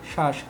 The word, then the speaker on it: শ্বাস: আছে বফলা মনে রাখবা বফলা যদি শব্দের শুরুতে থাকে তাহলে উচ্চারণ হয় না যদি আমি একটা উদাহরণ লিখি শ্বাস তাহলে এখানে কি উচ্চারণ হচ্ছে না কিন্তু যদি বফলা শব্দের